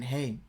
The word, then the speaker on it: Ai: by the israelites yadda yadda and it's it's pronounced hey just use the bethel this would make it